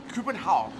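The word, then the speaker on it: København: am i anywhere close corbin holland you're very close indeed it might be a coupon how coupenhau yeah so no n at the end no n sound so coupe and how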